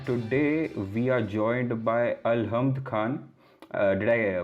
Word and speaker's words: Alhamd Khan: I am your host Aditya Lokhande, and today we are joined by Alhamd Khan. Did I pronounce it right? Yes, Alhamd Khan.